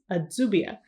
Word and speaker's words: Adsubia: Phonetically, the pronunciation of the town in English will look more like the Spanish version of the name, which is Adubia.